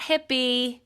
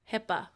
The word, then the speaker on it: Hippa: the same um but the key for saskia's last name is that it's not hippie no 70s P it's not hippe nope nope nope Hippa Hippa so actually ending both